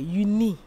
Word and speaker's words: juni: June, the same June. Nee, juni. Juni. Juni.